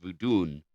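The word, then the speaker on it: Vodun: So it was it's pronounced voodun over there.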